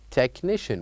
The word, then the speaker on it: technician: technician very good so by saying this word technician what do you think the silent uh letter is of course it is letter H here we say technician without saying or pronouncing the letter Ed now moving on to